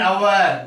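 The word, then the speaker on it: hour: एन आवर, क्यों कि उच्चारण स्थल में अ आया है, इसीलिए आपको इसमें एन आवर लगाना पड़ेगा।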